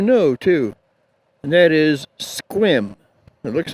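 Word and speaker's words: Sequim: looks like squim but the proper way to pronounce it and they'll let you know too and that is squim it looks like seim but a squim and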